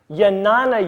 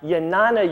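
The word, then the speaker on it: Jnana: as yoga system first yanana yoga yes it's spelled with a J but it's pronounced more like a Y yanana Yoga this is the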